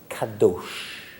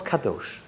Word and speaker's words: kadosh: And it is the word kadosh. Kadosh. Right? I guess in English you can spell it K-A-D-O-S-H.